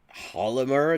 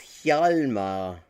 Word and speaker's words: Hjalmar: Hollimer, to rhyme with polymer, it's Hjalmar.